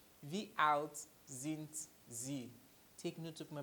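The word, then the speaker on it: Wie alt sind Sie: V out since Z V out since Z take note of my pronunciation it is not same it is in Z alright this S is pronounced like a Z V out since Z that is how old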